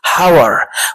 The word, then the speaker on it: hour: hour، H-O-U-R. اذا لو هننطقها في الطبيعة هنقول ايه؟ hour، ولكن هي كلغة انجليزية الاتش هنا سايلنت لا تنطق، فبنقول ايه؟ hour.